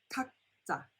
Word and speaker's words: 각자: 각자, 각자. Alright, so it's a JJ sound.